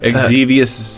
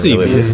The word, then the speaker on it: Xevious: I know, but is Xevious the proper pronunciation? I guess I had no idea. I say Xevious. Yeah, it's Xevious. I mean, as far as I fucking know. But we said Exevious.